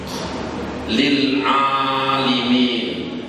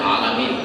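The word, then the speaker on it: لِلْعَالِمِينَ: Contohnya, lil alimin. Jarang bahasa lil alimin, yang banyak alamin, alamin, alamin. Tapi ada di dalam Al-Quran bacanya alimin. Makanya ada yang membaca kalau sepintas alamin, mestinya alimin. Tapi kalau didengar oleh yang tahu itu, Pak, tidak benar bacanya.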